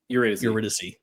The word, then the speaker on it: Eurydice: Eurydice.